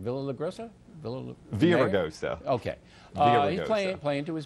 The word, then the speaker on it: Villaraigosa: But they're playing to their base, Villagrosa. That's how you say his name, right? Villagrosa? Villaraigosa.